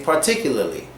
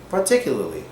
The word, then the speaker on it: particularly: the Foreigner most likely we don't pronounce the last R in particularly we kind of say particularly particularly so particularly I